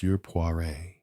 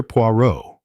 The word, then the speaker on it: Poirot: Puare. Msure Puo. He corrected her with an emphasis on the last syllable.